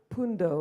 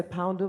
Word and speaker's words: Pundo: if I can say my name is pundo pundo it's it's normal it's like the English way to say poundo but it's actually pundo pundo yeah my apologies so